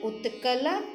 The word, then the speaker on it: उत्कल: कहीं कहीं पे बच्चे उत्कल की जगह उच्चकल बोल देते हैं, तो बच्चों ऐसा मत कीजिएगा। इसका सही प्रोनाउंसिएशन, सही उच्चारण है द्राविड़ उत्कल बंग।